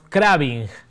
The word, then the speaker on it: craving: Se escribe C-R-A-B-I-N-G. Diríamos craving. La palabra craving, ¿sí?